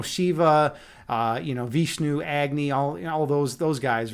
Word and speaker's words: Agni: name is is is one of except it's pronounced agy in in Hindu mythology I pronounce it Agy